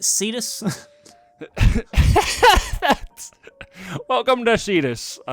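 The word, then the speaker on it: Seatos: calling it seos but because that's uh it's pronounced cetus that's welcome to cetus I don't know why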